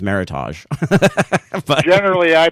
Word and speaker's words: Meritage: always pronounced for years, Meritage. As it turns out, it's Meritage. It rhymes with heritage, and it's a made-up word by the Napa Valley wine growers.